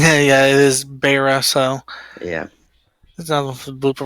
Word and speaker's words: Beira: And I do apologize for mispronouncing it. Yeah, it is Beira, so.